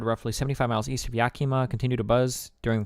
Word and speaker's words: Yakima: The site, about half the size of Rhode Island, holy shit, is an area centered roughly 75 miles east of Yakima.